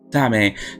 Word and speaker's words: Dame: So I guess it's pronounced Dame. Yes, Dame.